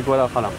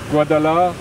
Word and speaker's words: Guadalajara: La petite astuce, c'est que le premier J, tu peux le prononcer comme un R. Ouais. Et le second, le R, tu peux le prononcer comme un L. Ça fait Guadalajara.